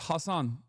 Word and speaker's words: Hasan: like Muslim Americans but that's not how your name is pronounced. It's Hassan Hassan. But it doesn't matter. I don't like I I it it I'm telling you right now it does not matter to me at all. That's it is Hassan is uh usually like I think it's like a Arabic pronunciation.